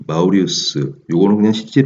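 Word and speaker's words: Maurice: 이 마우리우스, 요거는 그냥 실제 발음으로는 모리스죠.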